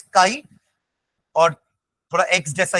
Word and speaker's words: chi: Pronounce तो यही कर रहे हैं ना, CHI भले उसकी स्पेलिंग होगी, बट प्रोनाउंस अपन KII काई कर रहे हैं, वरना वो करते तो चाई हो जाता है ना। तो द प्रोनाउंसिएशन इज काई, और थोड़ा एक्स जैसा